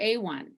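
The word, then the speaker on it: AWHONN: of women's health obstetric and neonatal nurses or a1 as we pronounce our acronym about 700 women die each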